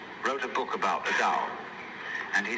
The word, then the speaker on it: Tao: is called the dao tao pronounced dao in the mandarin dialect tao in the shanghai